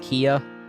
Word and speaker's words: Kea: His name is pronounced Kia.